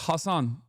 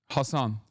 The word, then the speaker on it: Hasan: But that's not how your name is pronounced. It's Hassan. Hassan. But it doesn't matter. I don't like I I it it I'm telling you right now it does not matter to me at all. That's it is Hassan is uh usually like I think it's like a Arabic pronunciation, right?